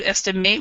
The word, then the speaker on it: estimate: would instead instead of estimate we say we pronounce it estimate estimate so this e is silent and this is a schw sound uh estimate very good